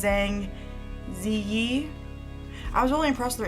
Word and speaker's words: Zhang Ziyi: Oh, well, how they say it, in most Asian countries the last name comes first, but it's Zhang Ziyi.